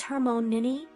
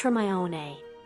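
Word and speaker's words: Hermione: to the dance floor your name is Hermon nin actually it's pronounced her my own and your name this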